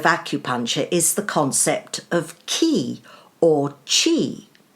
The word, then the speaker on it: ki: is the concept of key or Qi key is the Japanese word Qi is the Chinese pronunciation in this book I